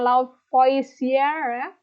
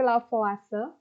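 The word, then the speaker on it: Lavoisier: ide-ide dan lavase ya ini bacanya bukan laut voice sir tapi lavase nah tapi kelemahannya ini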